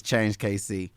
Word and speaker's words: KC Change: So it's the way you spell it is KC Change, but the way we say it is Change KC.